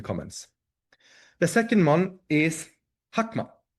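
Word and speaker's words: Chokhmah: The second one is Hakma. Looks like Chakma, but they pronounce it Hakma.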